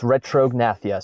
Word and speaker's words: retrognathia: How do you pronounce that? Retrognathia? Yes, retrognathia. So it's retrognathia.